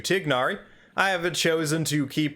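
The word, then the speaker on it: Tighnari: I do uh well de-anglicize tainari to tignari I haven't chosen to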